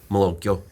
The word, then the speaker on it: malocchio: Malocchio.